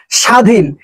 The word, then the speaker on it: স্বাধীন: স্বাধীন এই স্বাধীনে কিন্তু কোন বফলার কোন উচ্চারণ নাই।